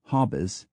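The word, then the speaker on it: Hautbois: a u t b o i s to hobbis b l v o i r somehow becomes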